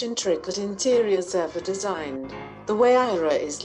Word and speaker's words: Huayra: Named after the Incan god of winds, the Huayra, pronounced Huayra, boasts an AM-sourced 6.0-liter V12 with 2 turbochargers, resulting in 620 HP and a massive 740 pounds-feet.